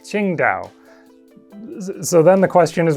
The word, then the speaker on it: Qingdao: For once, we have a dinosaur made in China that was found in China, and the city it was named after is pronounced something like Qingdao.